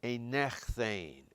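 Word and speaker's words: ἠνέχθην: This is very irregular, a little bit like what we had with the aorist active, and it's pronounced a nechthane, a nechthane.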